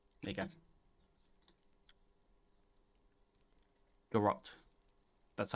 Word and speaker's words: garrote: Garrote. There you go. Garrote. That's how I said it. I swear that's how I said it. It does rhyme with carrot.